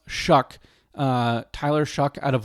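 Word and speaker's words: Shough: But the guy that's running after him, Tyler Shuck, who uh it's looks like SH, but it's pronounced Shuck.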